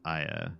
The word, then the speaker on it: Ia: Ia, do you know any Croatian? So I believe it's pronounced Aya, and I think she speaks French.